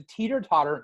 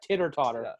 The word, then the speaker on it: teeter-totter: Although they didn't pronounce it right. It's a teeter-totter, not a titter-totter.